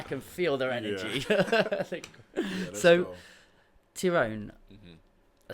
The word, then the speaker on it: Ty'rone: hear them I can feel their energy so tyone I said it right good I'm sorry for